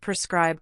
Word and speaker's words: prescribe: The pronunciation of prescribe can be tricky. It sounds like prescribe with the stress on the second syllable.